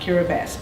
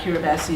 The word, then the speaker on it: Kiribati: and at baso and the thing that you very quickly learn about kiribati is that ti is pronounced so baso is spelled beto and of course kiribati is spelled hirabati but it's never pronounced that way so that's what it